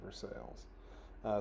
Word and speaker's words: Versailles: Uh just south of Highway 50 in Versailles uh Versailles. I don't know how y'all pronounce it up there. If it's Kentucky, I would say Versailles.